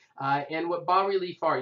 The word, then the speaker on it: bas-relief: And what bas-relief art, you don't pronounce the S, just so you know, it's kind of raised,